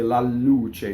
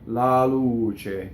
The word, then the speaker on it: la luce: weak mono syllables so not all mono syllables double in the word la a lot of Americans love to double after la se la luce no la luce it will be single el okay so Luce you